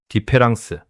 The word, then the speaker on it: différance: 디페랑스. 이제 그 비밀을 풀어 드리겠습니다. 프랑스어로 다음 차이를 뜻하는 단어는 디페란스입니다. 데리다는 가운데 철자 하나를 바꿨습니다.이를 A로. 그런데 놀라운 사실이 있습니다. 발음은 똑같습니다. 기로는 구별이 불가능합니다.